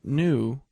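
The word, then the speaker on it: knew: no the question is why is it spelled that way if we don't pronounce the k well it's very simple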